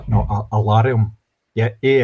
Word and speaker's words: Alarum: It's called No, Alarium. Yeah. A L A R U M. Oh, it's uh Scottish not just not the Scottish pronunciation of the words alarm.